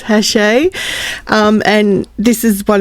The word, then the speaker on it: Hachette: I think you pronounce it because it is a French company. If I pronounce it with my Australian accent, it would be Hatchet. So, I'm pretty sure it's Hashe.